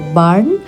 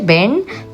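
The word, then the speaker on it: Bern: আর আমার উচ্চারণ দেখেছো যে এটাকে বাসেল বলে আমি ব্যাসেল বলেছি আর বার্ন নয় শহরটার নাম হলো বেন।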